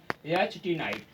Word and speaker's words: knight: जैसे नाइट, यहाँ देखते हैं, देखिए KNIGHT, नाइट। ये अब आपको SSC में पूछा गया, देखिए इसका उच्चारण क्या हो रहा है, नाइट, फिर देखिए नाइट, NIGHT नाइट।